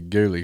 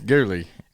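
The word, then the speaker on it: ghillie: been pronouncing it wrong I've been pronouncing it ghilly suit for all these years it's really gly suit right I don't suit I don't know it's a yeah no Chris said it's gly and he's right I'm sure am I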